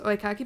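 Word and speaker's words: oekaki: I think it's pronounced oikaki boards.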